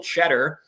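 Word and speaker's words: Tschetter: And Michigan also got this guy's going to could be a 6th man of the year candidate, Will Cheddar. It is not spelled like the cheese, but it sounds like the cheese.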